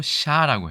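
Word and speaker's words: chá: 이 발음을 그대로 가져왔었는데 마침 이게 포르투갈어로 샤라고 해요.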